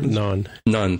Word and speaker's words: Nhan: Non, thank you. It's like spelled like non, the Indian food, Nhan, which is very close to how you say non, which is the Indian bread.